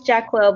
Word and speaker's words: Jacqueline: you can correct me um is it is it jaqual jaquala can you help me out i want to say it right i'm so sorry can you turn on your mic and tell me maybe not no it's jacqueline but jackie is fine